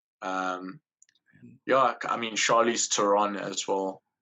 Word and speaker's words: Theron: charlie's turon as well or theron as we probably pronounce it but actually the actual surname there is actually tehran i don't know if you know that or not but that's actually the south african way of pronouncing it but she's she's also